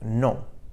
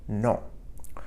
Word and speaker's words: non: The word for no in French is non, non. So this word is a bit different than the English word. So we say no in English, but non in French. So hear that faint N sound, non, at the end of the word.